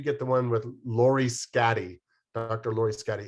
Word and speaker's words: Schade: Lori Scatty. It's spelled Schade.